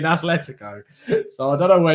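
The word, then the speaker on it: Atlético: as you're not saying athletico i don't mind because there's no h there's no h in atletico so i don't know where you're coming up with that it's atleticon um yonick says arteta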